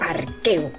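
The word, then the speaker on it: Arceus: que ponga en Wikipedia se pronuncia arqueo con k Exacto lao se quiere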